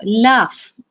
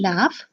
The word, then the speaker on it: laugh: with irregular spelling so laugh now in laugh when you say it it sounds like f isn't it but the u g